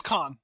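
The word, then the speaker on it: Kahan: So, how do you pronounce that? It is Khan. Yeah, Noah Khan.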